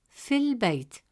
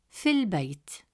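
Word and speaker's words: في البيت: Hamzat al-Wasl, making it fil Bayt. The alif is skipped and the sound transitions smoothly from fi to al-Bayt, fil Bayt.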